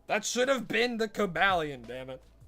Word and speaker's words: Cobalion: That should have been the Cabalion, damn it. Or coalon as some people call it. But I'm pretty sure its name is meant to be like kind of a base off of a cobalt.